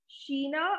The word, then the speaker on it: China: it's chinese-ish so for china the word is sheena i'm writing here sheena